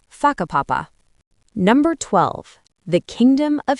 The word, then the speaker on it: Whakapapa: You'll hear locals casually talking about places like Wakapapa, pronounced Whakapapa.